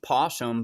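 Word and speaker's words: opossum: had those things called AP possums now it's pronounced posum but it's an it's spiled a possum and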